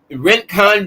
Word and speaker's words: Rincon: is located right in Rankin Georgia or Rincon Georgia I don't know why they call it ranking it's spelled r-i-n but it's pronounced r-a-n rent con Georgia all right and